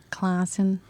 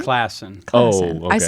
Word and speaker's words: Classen: you said it right Classen just like it's spelled what people say claen like the our claen